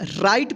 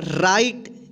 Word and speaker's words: right: देखिए यहाँ पे आई के जस्ट बाद क्या है, GH और यहाँ पे T है, तो इस R का र उच्चारण होगा, ठीक। और इस आई का देखिए, इस आई के जस्ट बाद क्या है, GH है, तो इस आई का आई उच्चारण होगा, ठीक। और टी से ट यानी आई, आ की मात्रा र में लग जाएगा तो क्या होगा, रा ई ट, क्या होगा, राइट, इसलिए यहाँ पे इसको पढ़ेंगे राइट, ठीक।